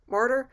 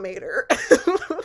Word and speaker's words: martyr: Martyr, how do you say it? Martyr. It's martyr, not mater.